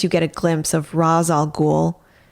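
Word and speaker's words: Ra's al Ghul: get a glimpse of ras all ghoul which is how i say his name um and we see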